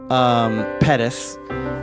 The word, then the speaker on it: Pettis: Her name is Pettis. It also rhymes with lettuce, and I hope I really didn't steal your thunder on that. I know it's kind of a thing. It's fun to say Pettis rhymes with lettuce.